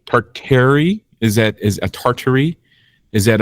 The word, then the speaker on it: Tartary: It's supposed to be Tartary, but I guess when you talk about it as like everyone always talks about the Tartarians in the Tartarian Empire.